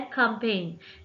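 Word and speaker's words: campaign: हमारा next word है कंपेन कंपेन में अगर आप देखें तो जी साइलेंट आता है हमारा देन हमारे पास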